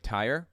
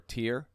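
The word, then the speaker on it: Tyre: the southern city of Ty or tier depends on your pronunciation I think the American one is Ty but they pronounce it tier over there kind of like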